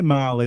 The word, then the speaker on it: Mali: So I say Mali, but it's spelled like the country, MALI Fair enough.